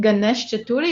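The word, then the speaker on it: Ganesh Chaturthi: now in um yes in india i think ganesh chaturi is how do you say it exactly oh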